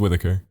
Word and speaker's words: Whitaker: That's How do it's you actually say that pronounced last Forrest name? Whitaker.